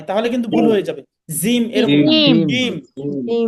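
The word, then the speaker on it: جيم: হরফ এটির নাম হচ্ছে জিম জিম জিমটা উচ্চারণের সময় জিহবার মাঝখানটা উপরের তালুর সাথে লাগিয়ে উপরের তালুর সাথে লাগিয়ে উচ্চারণ করতে হবে একটু শক্তভাবে জিহবার মাঝখান উপরের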